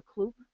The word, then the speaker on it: cloop: and they they uh is it c-loop or cloop how was I pronounced okay it's uh c-loop compressed to four gigs